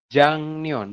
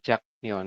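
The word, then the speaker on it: 작년: Jadi dibacanya adalah Jangnion, bukan Jaknion seperti itu ya.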